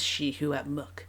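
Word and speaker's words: Secwépemc: to pronounce it because it is not spelled shihuepmuk. It's spelled, if I was going to be phonetic with how it's spelled sekwipimik. That would be how I would say it if I didn't have the help that she provides in how to pronounce it. And so shihuepmuk is how you say shuswap, which I think is awesome.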